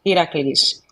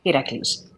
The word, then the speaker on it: Heracles: Stephen Adams, the pronunciation is Heracles. Like Hera, the goddess, Cles, Heracles.